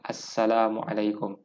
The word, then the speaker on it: Assalamualaikum: Yang ni ejaan dia yang betul adalah Assalamualaikum. Yang ni salah. Yang ni bukan macam ni aja dia. Macam ni aja dia. Ada lam kat sini. Lam, tapi lam ni tak bunyi.